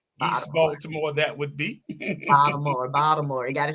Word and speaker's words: Baltimore: from where right East Baltimore that would be Baltimore Baltimore you gotta say it right Baltimore Baltimore